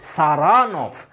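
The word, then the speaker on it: Saranoff: তো ইনি জোর দিচ্ছেন সেকেন্ড সিলেবেলটাই, দেখো লেখা আছে, হি প্রোনাউন্সেস the name with the stress on the second syllable, সারানফ।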